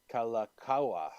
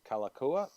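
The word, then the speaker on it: Kalākaua: It is the the Legends and Myths of Hawaii, written by His Majesty Kalakaua. I know I mispronounced that. Kalakaua.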